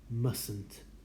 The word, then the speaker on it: mustn't: must don't have to mustn't notice we don't pronounce the first team mustn't you don't have to go to the party